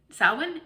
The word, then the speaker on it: Samhain: and salem or and i think i'm going to say it right samhain sawin in salem i know that's not how it looks phonetically but i'm almost sure of course i plan